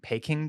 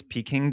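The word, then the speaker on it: Peking: get peaking duck um somebody asked a pronunciation question I think I saw this in a DM or something if I think I was saying ping duck but I think you're I think you're pronouncing I said peing duck for like 20 years I think it's peing duck I think it is peing duck yeah uh like you're peeking into a window I'll be honest everyone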